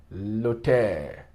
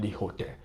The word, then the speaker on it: l'hôtel: Où est l'hôtel? See, l'hôtel, vowel preceded by a consonant. You see, the H is silent. L'hôtel, not the hotel.